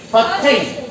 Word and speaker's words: putting: So he has plenty of carpet space for putting practice. For putting practice. For Putting. Putting. Right. PUT को यहाँ put नहीं पढ़ोगे, यहाँ क्या पढ़ोगे?